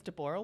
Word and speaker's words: Deborah: so my name is Deborah Deborah I like this it's actually the old pronunciation it's considered the Hebrew pronunciation yeah and in fact